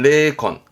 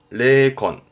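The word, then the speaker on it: 霊魂: 발음은 레콘, 레콘.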